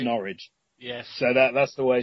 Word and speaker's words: Norwich: She said, it's Norwich. Yeah, and so she corrects them by saying, think of porridge, that's right. It's Norwich.